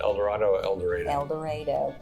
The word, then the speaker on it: El Dorado: El Dorado, per the locals. That's how you should say it. It is not El Dorado.